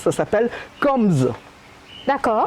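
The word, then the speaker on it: Kambz: on prononce, ça s'appelle Combs. D'accord. Alors je te prononce, K-A-M-B-Z. Combs. Combs. Comment tu prononces ça, toi? Ben pareil, Combs.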